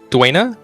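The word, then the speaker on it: Dwayna: My character likes to keep his body as a temple to the god Duena. That's how you pronounce it, right?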